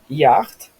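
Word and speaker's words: jacht: Яхт, да. Ну вот, как вот в немецком, в польском так же самое. Это вот сх это будет как х.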